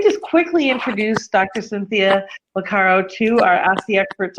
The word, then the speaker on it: Boccara: Boccara, it's French. Boccara, okay. Has got to be said with more zest.